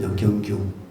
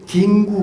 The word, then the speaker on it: 경규: 하셨습니다 제 손을 잡고 제 이름이 경거 경규 근데 경규 발음을 잘 못해요 여기서 뭐라 그러냐 긴구 그래요 긴구 절보고 그래서 저 어머니 마지막에